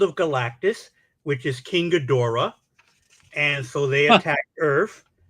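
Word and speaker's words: Ghidorah: here's a question is King gadora who we used to call gidra back in the day because I noticed the pronunciation of a lot of Monsters has changed over the years yes so it's been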